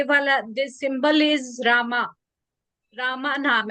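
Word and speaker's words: Rahmah: और इसका नाम है रामा नाम हम बोलते हैं लेकिन जो प्रोनाउंसिएशन इसका होगा रामा ऐसे बोलना है रामा आर ए एच एम ए एच ऐसे आपको इसको प्रोनाउंस करना है और इसका कलर होता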